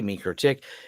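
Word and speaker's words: MikroTik: mro tick videos and they pronounce it like you say mro tick uh yes oddly I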